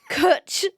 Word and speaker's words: Cwtch: So it's spelled Cwtch. Yeah. So Cwtch, like butch, simply means a hug full of love.